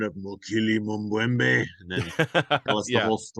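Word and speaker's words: Mokele-mbembe: kids, you want to hear the sound of Mokili Mumbwembe? And then tell us the Yeah. whole story. And, you know, perfect pronunciation, by the way. I've always been a big fan of Mokili Mumbwembe.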